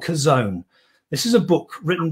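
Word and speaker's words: Chazown: is a thing called kazone this is a book written by craig rochelle c-h-a-z-o-w-n it was pronounced that's how it's spelt it's it's uh an interesting title it's actually a hebrew word and when you pronounce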